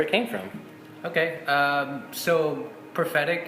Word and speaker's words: Profetic: came from okay so prophetic it's phonetically just like the English translation forward you know we just decided to put in half in front of it I mean grammatically it's incorrect it's everything sure about it but it you know you pronounce it exactly how you would say in the English version and then kind of